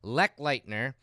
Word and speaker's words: Lechleitner: I originally pronounced Kyle's name completely wrong, but he taught me how to do it. It's Kyle Lechleitner, and he has been a fan of the company for a few years now.